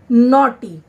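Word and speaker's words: naughty: ऐसे ही नॉटी, एन ए यू जी एच टी वाई, क्या बना?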